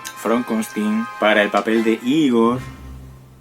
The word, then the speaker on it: Frankenstein: el doctor frankenstein front consulting se pronuncia from con sting from con sting para el papel de